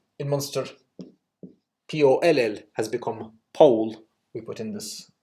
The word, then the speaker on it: poll: B, the yellow hole, but pull, as opposed to pole. And of course, pull was the pronunciation in Old Irish with a long L, pull, pull. But anyway, my whole point is that in this area, we know that it was pole because of the rhyming system.